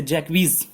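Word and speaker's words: Jaques: और इस पोम को जैक्स JACQUES जैक्स, जिसे जैकवीज इसका करेक्ट प्रोनाउंसिएशन जैकवीज होता है, वही एक कैरेक्टर है, उसी के द्वारा इस पोम को बोला जाता है, पढ़ा जाता है।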